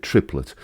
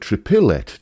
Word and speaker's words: triplet: weird to me because who in real life says trippy let we don't we said triplet and quite often adding that third syllable in the middle of that word leads to people seeing the word triple it triple it triple it like that I've seen that